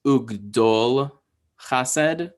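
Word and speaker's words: וּגְדָל חָסֶד: So here we have this word right here, which is pronounced ugdol chased, ugdol chased.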